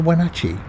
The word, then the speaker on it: Wenatchee: to last time and we're going on to when Archie that's how you pronounce it with a lot of grain in